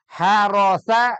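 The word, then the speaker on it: حرث: Harosa dan haroso. Harosa dan haroso. Kalau A'atha diakhiri A ya. Kalau so diakhiri dengan O. O.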